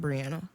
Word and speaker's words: Brianna: mean some people spell it like me and pronounce it brianna yeah well this is that's why the [